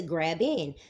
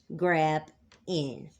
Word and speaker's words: Graben: which mean basically to grab in. The word is spelled Graben, but I'm going to use it as two words, as in Grabin system. Grab in.